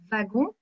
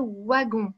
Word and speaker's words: wagon: mais nous par exemple on va prononcer wagon merci à vous et en belgique ou dans le nord on peut le prononcer waggon donc c'est une particularité